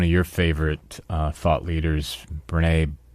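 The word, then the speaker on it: Brené: Well, and I think there's another thing that comes to my mind, and one of your favorite thought leaders, Brene, I think she pronounces it Brene?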